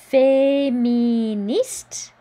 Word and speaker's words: féministe: La féministe. Don't pronounce the E. The E makes the T pronounceable though, so we do hear this T.